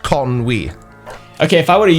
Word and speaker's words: Conwy: Judging by the W thing, Connie? Conwy. Okay, so you actually do pronounce the W. Sometimes, which we'll get to in a minute. Conwy. That's pronounced Conwy.